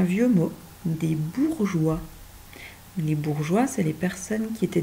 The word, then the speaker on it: bourgeois: Tu vois, à chaque fois, on a ce E muet qui se rajoute pour bien forcer le G à glisser, même avec une lettre ronde qui bloque d'habitude.